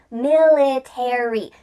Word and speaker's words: military: Well, in this case, a r y at the end of words is going to indicate that in American English, we're going to pronounce the full word. Library, secretary, military.